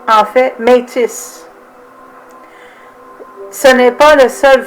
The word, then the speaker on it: Métis: ont commencé comme métier fair use à la prononciation de miti comme été mais c est souvent considéré comme la bonne façon française de redire mais les français se prononcent en fait métis ce n'est pas le seul forme qui est